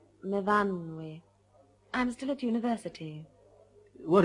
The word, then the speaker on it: Myfanwy: What do you do, Myfanwy? No, Myfanwy. We pronounce it Myfanwy.